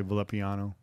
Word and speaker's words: Villapiano: See, I almost want to pronounce that double L in Spanish. Villapiano. Yeah, but I don't know how. He's I'm Italian. Sure he's Italian, so I know that they don't do that.